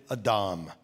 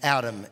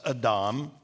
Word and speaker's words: Adam: human male he created a dom now we would pronounce that name adam in english but it's a hebrew word that's pronounced adam stay with me so